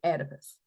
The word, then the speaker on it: Oedipus: It starts with the O, but it's still pronounced Oedipus.